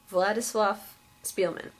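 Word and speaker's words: Władysław Szpilman: and it is very very good it's by vladislav Spielman that's how you say his name I have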